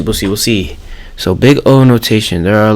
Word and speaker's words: Big O: Big O analysis pronounced big O not big zero is one way to